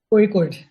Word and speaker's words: Kozhikode: How is it pronounced? Kozhikode.